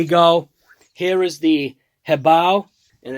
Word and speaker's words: HoBao: so anyways here you go here is the head bow and it's actually pronounced heav i'll like h e bo w head bow had a nice little conversation with them and